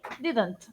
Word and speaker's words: didn't: ¿Se pronuncia la T al final, tipo didn't? Sí, didn't.